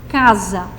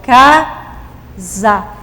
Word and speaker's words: casa: letras nós temos aqui casa ó quatro letras quando eu pronuncio a palavra o s entre duas vogais ele tem o som de z certo então eu continuo